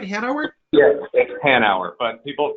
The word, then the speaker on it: Hanauer: an hour is that right Hanover yep an hour but people pronounce it wrong my whole life if it